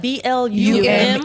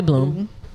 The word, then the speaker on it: Blume: but when it's spelled what? BLUME. It's probably so it's probably Bloom. See, I was Probably thinking Blue Blum. May. No. Judy Bloom. I've never heard anybody else pronounce it any differently than Judy Bloom.